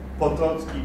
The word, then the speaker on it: Potocki: Et on considère Potocki, parce que c'est la prononciation polonaise, comme le premier ambassadeur